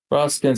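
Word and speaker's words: Rosecrans: Brigadier General Rosskins, I think I pronounced it correctly, spelled R O S E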